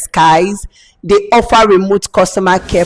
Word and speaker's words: Sykes: The fourth on my list, it is spelled SYKES, Skies.